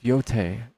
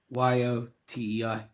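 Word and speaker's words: Yōtei: How do you spell that? It's Ghost, like Ghost. Uh-huh. Oh, of Yote. Yote. Yotei.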